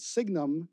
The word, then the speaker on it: signum: signum of the result we always pronounced it signum because sine was ambiguous maybe that was the trig function so we always refer to it as a signum the latin word for sine so if the result